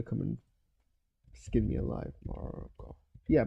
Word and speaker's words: Morgoth: Morgoth. Yeah, Morgoth.